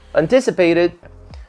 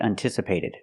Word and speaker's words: anticipated: so let's get started first this is not correct highly anticipated anticipated to anticipate I cannot pronounce it highly anticipated we say highly anticipated we use a different vowel sound for the a in anticipated or the verb in the present anticipate we use the sound an an not un